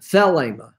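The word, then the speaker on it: θέλημα: greek word for will is well we always pronounce that because it's a long e the ema but the accent is on the thelema so that's kind of funny felima when thelema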